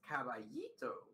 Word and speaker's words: caballito: Also, yes, pronounced as caballito. Yeah, I was just wondering if the L's were the A, you know, was the Spanish double L's.